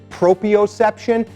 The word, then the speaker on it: proprioception: training community it's proprioception some people mispronounce that word is proprioception not the word if somebody mispronounces it correct them because they're